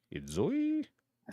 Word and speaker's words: Enzoi: Enzo. I think that's what's how it's pronounced. Enzoi I Z O I Yeah.